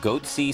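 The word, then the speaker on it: Goatse: and they're getting the goatsy picture they're called goatsy security is that my pronouncing that correctly yeah that's right we're analyzing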